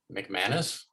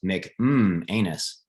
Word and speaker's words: McManus: on sticky bandits is that how do you pronounce his last name mcmanus oh okay i thought it was nick um anus i wasn't sure how to how to say